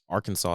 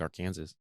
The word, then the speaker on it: Arkansas: No one questions why Arkansas is spelled like Arkansas, but they say Arkansas.